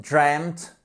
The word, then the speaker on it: dreamt: Il n'y a pas de voyelle qui change et pourtant la prononciation change au niveau des 2 voyelles ici. To dream, dreamt, dreamt.